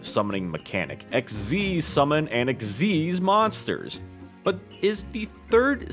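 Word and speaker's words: Xyz: of the exes that's exes pronounced like exceed don't ask me why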